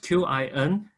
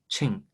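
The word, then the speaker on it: 秦: But early time, when European people recorded this part of the history, they used a Latin way, which is a Chin, Qing dynasty.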